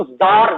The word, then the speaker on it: Tsar: देखिए स्पेलिंग जो है वो TSAR है, लेकिन जो इनको प्रोनाउंसिएशन होगा वो रशियन लैंग्वेज में इनको जार बोला जाता है।